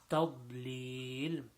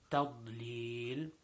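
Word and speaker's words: تَضْلِيل: Now tadlil, the toughest letter in there is the letter dad. And again, we talked about dad in the last video that we did in Surah Fatiha. So making sure that we pronounce the dad properly.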